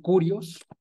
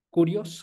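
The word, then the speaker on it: κύριος: Porque cuando se ocupa esta palabra Señor, es una palabra en el griego que se escribe, bueno, que se dice curios, curios con K, curios, ¿sí?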